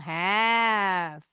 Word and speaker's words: half: Have. Tadi ya bacanya L-nya silent.